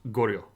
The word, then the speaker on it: Goryeo: to how you'd pronounced Goryeo. So it's kind of a two-syllable word, and it's rather fast, and it blends together in the middle. But the Goryeo dynasty is in charge, and they're going to start in the 900s.